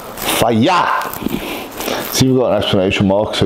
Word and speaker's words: Fage: six consists of fagee I say fase it actually tells you how to pronounce this which is fire see got an explanation mark